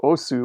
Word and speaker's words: osu: thing with us right OSS is actually a bad pronunciation of Oh su which is OSU yeah it's perfect example